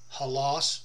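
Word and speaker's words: ὅλος: it's strongs G 3650 halos halos is how it's said in the Greek and whole means all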